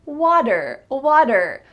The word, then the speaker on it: water: What's the sound that you hear in the middle of this word? Water, water. Well, it's not a T sound, water. Instead, it's a D. Here we have again, the T is changing to a D. This is typical in American English.